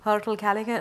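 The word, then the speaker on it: Hirtle Callaghan: Is that how you pronounce it? Hertel Callaghan, a pioneer of outsourced chief investment officer, fiduciary model management, over 20 billion in client assets.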